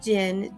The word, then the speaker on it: Gene: Gene, he actually pronounces it Gin, Gin, Ano, and his daughter Genesis, who's a teenager.